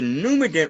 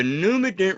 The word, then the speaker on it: Numident: Num, separate the words. We're going to get into some etymology here. The root words. Num phonetically is spelled graphically N-U-M. So it could phonetically be N-U-M num or N-U-M num.